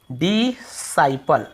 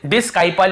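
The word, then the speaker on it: disciple: इसे हम क्या पढ़ते हैं? डिसाइपल, ठीक है, ऐसे डिसाइपल, डिसाइपल पढ़ते हैं। अब यहां पे आप देखेंगे यहां पर भी आपको सी का उच्चारण मिला, डिसाइपल, क्योंकि आई को हम आई पढ़ रहे हैं, डिसाइपल ऐसे पढ़ रहे हैं, ठीक है। यहां पे भी हम इसे डिस्काइपल या डिसाइपल ऐसे ही पढ़, केवल डिसाइपल पढ़ रहे हैं।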